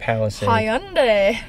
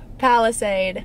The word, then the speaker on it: Palisade: don't even know how to say it monday palestine palisade yes limited we went to kiara hyundai tamron